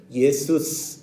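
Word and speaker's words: Ἰησοῦς: 잘 아시죠 지저스입니다 여러분 우리말하고 원래 말이 발음이 더 비슷합니다 영어의 쫄 필요가 없습니다 자기들 마음대로 지지져서 없는 발음을 만들어 가지고 우리 예수님 부르고 있습니다 원래 우리 예수님 부를 때 어떻게 부르느냐 예수스 이렇게 부릅니다 우리가 예수님하고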